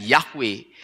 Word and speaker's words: Yahweh: Nah demikian pula dengan yhwh orang yang tidak bisa membunyikan atau membaca empat huruf ini dengan yahwe sebetulnya itu karena orang itu tidak tahu cara membunyikan atau cara membacanya bagi orang Yahudi dan bagi kita sekarang yang tahu hukum cara membacanya maka kita bisa membunyikan yhwh itu dengan yahwe jadi yhwh bisa dibaca dan dibacanya adalah yahwe kita kembali ke Firman